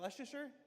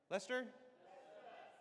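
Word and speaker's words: Leicester: How do you say, is that Leicer? Lester.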